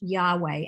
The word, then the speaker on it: Yahweh: In it, God is called by a different name, by the Hebrew consonants Yod He Vav He, which are sometimes pronounced Yahweh, and which most English translations translate as the Lord.